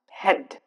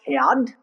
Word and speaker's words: head: example in the cases as I've given you an example head where a is not pronounced where a is silent head it's not pronounced had that's wrong Hand bread wrong bread